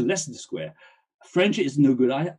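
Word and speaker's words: Leicester Square: not good at all if you look at the less the square you know it doesn't really really you know pronounce it as it reads if you think about less than square it's not less s squared right it's a lesson square french is no good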